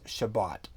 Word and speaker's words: Shabbat: is the Sephardic pronunciation, which has the hard t sound at the end of words. So, for instance, the Sabbath is Shabbat. Sukkot, the festival of booths is Sukkot.